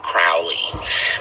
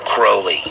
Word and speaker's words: Crowley: was really started by a guy named Aleister Crowley or Crowley I think Crowley is probably how most people pronounce it Rowley was considered the most wicked